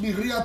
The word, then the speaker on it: birria: you read the title it's birria tacos pronounced birya tacos and uh that's what